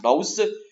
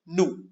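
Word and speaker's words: nous: it is new yeah I know it is n o us you might make it mouse but it is no pronounced new similarly you for you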